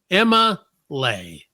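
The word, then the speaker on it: Emma'Leigh: Now you spell it E-M-M-A apostrophe L-E-I-G-H. Emma Lay.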